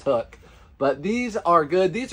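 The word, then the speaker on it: Huk: so this is hook I always pronounced it Huck I don't know as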